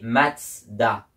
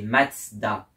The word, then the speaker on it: Mazda: Donc c'est censé se prononcer comme en allemand et donc c'est censé se prononcer Matsda.